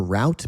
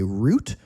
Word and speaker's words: route: Once again, like neither, neither, there are two ways to say this. You can say route or you can say route. Now, actually, route is like the American pronunciation.